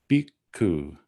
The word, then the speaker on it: bhikkhu: So it starts with an aspirated B, an I, a K, and then an aspirated K and a U, bhikkhu, bhikkhu.